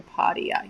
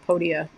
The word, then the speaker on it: Podia: a login page for Padia yes that's it podia I can't remember how to say it so podia is the